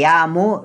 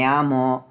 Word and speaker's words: llamo: want to point out I pronounce measure mo Ryota because I like the way pronounce this way but often time other people pronounce lol as yeah instead of Jah so some people said